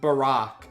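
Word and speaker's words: Barok: his name, it's apparently pronounced Barack like Barack Obama.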